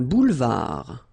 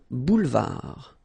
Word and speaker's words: boulevard: Un boulevard. Final D not pronounced. Un boulevard.